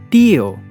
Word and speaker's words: tío: When we see a tilde in a word, we know we have to stress that syllable. For example, tío. We stress the syllable T.